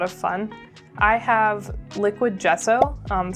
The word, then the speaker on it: gesso: I have liquid gesso um spelled g ss o, but I'm pretty sure I'm pronouncing it right with the soft g and that's what's used on all canvas actually to prep it for painting.